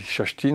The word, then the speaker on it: Kerstin: Ça s'écrit Kerstin, mais on dit Kerstin en suédois.